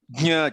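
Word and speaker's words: ज्ञ: It is like trying to pronounce ja only, but through your nose, basically.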